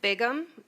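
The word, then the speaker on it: Bigham: Ma'am, if you could state your name and spell it for the record, please. Bigum.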